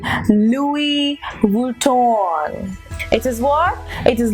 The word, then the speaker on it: Louis Vuitton: take it at newest so it is not Louis Vuitton it is actually Louis Vuitton it is what it